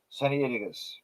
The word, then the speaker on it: Sinaiticus: become known as codex scienticus now it's usually pronounced by Americans but it should be sunny inigas anyway he released a